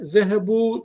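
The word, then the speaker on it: ذهبوا: Fakat unutmayın, buradaki vav'ı okuyoruz, elif okunmayan bir elif. Telaffuz etmiyoruz. Yani zehebu dedim hep dikkat edersen. Dikkat ederseniz. Zehebu. O elifi ne yapmıyoruz? Telaffuz etmiyoruz.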